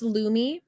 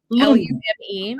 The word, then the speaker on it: Lume: Yeah, so it's actually pronounced Lume. Lume.